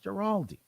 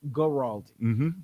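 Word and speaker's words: Guaraldi: the music of vince giraldi vince carey yeah they love it i think it's a hard g okay vince gorald play that music and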